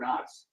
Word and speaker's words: Knox: knoxx that I did the interesting thing about port knoxx is that the K is silent did you know that